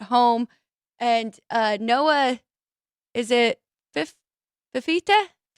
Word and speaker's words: Fifita: Now they're at home, and Noah, is it Fifita? How do you say it? It's Fafita is how Fafita is how I at least have heard it.